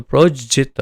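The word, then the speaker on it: प्रोज्झित: धर्म धार्मिकता, प्रोज्जित, प्रोज्जित ये शब्द को भी आप देखिए प्रोजित इस तरह से, तो प्रोज्जित प्रोज्जित इस तरह से उसका उच्चारण होगा।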